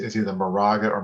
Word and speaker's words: Moraga: know and i'm gonna say is either the moraga or morega all right how do you say that because uh moraga moraga okay see it's just different enough like